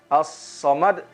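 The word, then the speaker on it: As-Samad: Diperhatikan juga huruf sodnya ketika kita ucapkan as-somad. Jangan sampai kita memonyongkan daripada bibir kita. Allahus somad. As-somad. Kemudian juga ada qalqalah pada huruf dal. As-somad.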